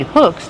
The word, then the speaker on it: hook: You need hooks to catch the fish. How do you pronounce hooks? Hooks. Use the short sound like look and book and good.